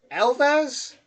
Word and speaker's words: Alsace: Alsace in the east of France feels like you are inside a country. Hold on. Elvez? Hold on. Alsace in the Elvez? That's how you pronounce that?